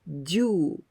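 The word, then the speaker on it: 十: it means jew ten the meaning is 10 and we pronounce jew so the difference only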